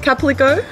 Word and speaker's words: Calpico: How do you pronounce that? Calpico.